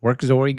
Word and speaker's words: Werkzeug: folks would say that, Werkzeug or Werkzug or something, right? But Armin Rönneker, the creator of this is German or Austrian but speaks German. And so that's the German pronunciation.